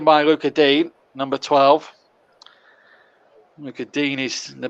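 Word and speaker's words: Lucas Digne: look at dean is the correct pronunciation i'm told although some commentators still call him look at dingy but it's look at dean i'm told and i'm going with the perception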